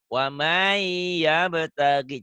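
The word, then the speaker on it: وَمَن يَبْتَغِ: namanya idgham biguna itu tulisan dan bacaannya apa? Enggak sama, beda. Iya, tulisan dan bacanya tidak sama. Tuh. Ditulisnya kan waman ya, ada N-nya ya. Ya. Kalau dilatenkan ya, waman yabtagi. Waman, tuh. Di sini harusnya N tuh, waman yabtagi. Nah, ya. N-nya berubah menjadi huruf huruf di depannya tuh.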